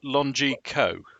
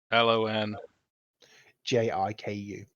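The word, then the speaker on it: Lonjiku: I'm struggling with the pronunciation on it. If I open that, it might give me a pronunciation. Longiku, so the old man you saw yesterday arguing with America. LON JIKU. JIKU. Okay.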